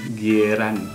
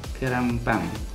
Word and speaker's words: gyeran bbang: Pernah sih tulisannya dalam versi Indonesia G-Y-E-R-A-N, Gieran. Tapi dibacanya Kerangpang.